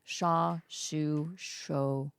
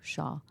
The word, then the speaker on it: Schau: This woman's name is Schau, and I think each time I said her name, I pronounced it differently. Shaw. We apologize. Shaw. I'm sorry, but she knows what she's talking about.